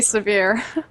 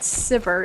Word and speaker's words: Sivir: Is it Sivir or Siv? I can't even say it correctly now. I just want to say Severe. I know. You've said it for forever. That's how RF Legendary says it, I've heard. But it's wrong. Wow.